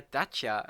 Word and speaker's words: Dacia: Involve a Dacia, nice. Or a Dacia, as it's actually supposed to be pronounced.